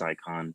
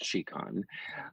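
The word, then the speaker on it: Scicon: of buy case you have I have a shiquan case it's spelled s CI Co n so lots of people pronounce its icon according to the manufacturers now it's chic on and what's really nice about this case that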